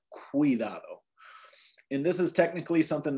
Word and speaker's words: cuidado: So this word would not be pronounced cuidado, but cuidado.